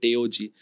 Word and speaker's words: TAOG: That's how you pronounce it, TAOG.